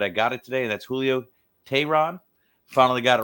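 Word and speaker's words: Julio Teherán: get on to somebody who I do struggle pronouncing his name but I got it today that's Julio tehrad finally got it right after hey Aaron a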